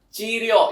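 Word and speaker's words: 治療: Jadi cara bacanya itu adalah chiryo yang artinya itu adalah pengobatan.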